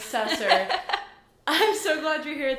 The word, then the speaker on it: Sesser: we have hannah rose how do you say your last name sasser sessor i'm obsessey with hannah rose sessor i'm so glad you're